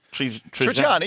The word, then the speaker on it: Trigiani: Trigiani, yeah.